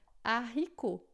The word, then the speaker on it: haricot: um sh, assim, e ele não tem som de nada, tá? É uma letra aí muda, tá? Então, a gente vai dizer aqui, por exemplo, haricot. Haricot em francês, tá? Não é haricot, não, é haricot, tá? E aqui não é home, não, mas é homme, homme, tá? Então, o H é sempre mudo em francês, tá?